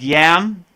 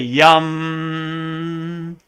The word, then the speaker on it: Yam: so the next one looks like yam the heart chakra but it's really yum and the next one